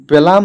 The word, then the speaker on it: Blum: তো শুরুতেই যে বিষয়টা ক্লিয়ার করব, তো অনেকে আমাকে আসলে বলেন যে ভাই এটা ব্লাম উচ্চারণ হবে না বুলুম উচ্চারণ হবে।